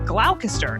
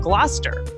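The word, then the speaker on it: Gloucester: Like originally, I said glalcaster instead of gluster.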